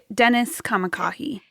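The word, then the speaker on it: Dennis Kamakahi: And this is I can't pronounce his name. Dennis. Yeah, Dennis Kamakah.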